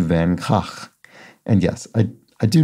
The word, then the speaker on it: Van Gogh: v-a-n-space g-o-g-h isn't pronounced van gogh or van gogh since the g in dutch is closer to a guttural h so it ends up being closer to van gaach and yes i i